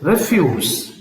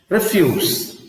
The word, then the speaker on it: refuse: pair next pair is refuse refuse refuse refuse means refuse of course when you are stress on the first Sy refuse means you disagree you disagree refuse I don't want I don't agree similarly similar similar to